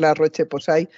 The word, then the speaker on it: La Roche-Posay: Mira, mi abuelo siempre decía que en español se escribe igual que se lee, o se lee igual que se escribe, así que podemos decir La Roche-Posay.